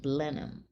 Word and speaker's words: Blenheim: to the Blenheim Palace I believe it's pronounced blenham the blenham it'll always